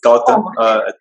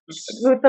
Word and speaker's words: Goutham: We have here Goutham. Am I pronouncing that correctly? Almost. It's Goutham. Goutham, but you can think of it like Gotham City.